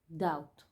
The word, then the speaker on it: doubt: out like out Shout doubt pay attention Debi in doubt is silent and out shout and